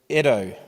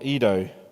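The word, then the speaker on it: οἶδα: Instead, he uses the word edo or edo. Ado, I think you actually pronounce it.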